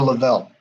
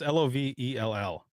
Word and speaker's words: Lovell: Is it Lovell or Lavelle? Maybe it's Lovell. I don't know. It's Lovell.